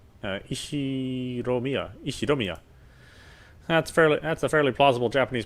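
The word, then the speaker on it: Ushiromiya: His name is pronounced Ishiromiya George.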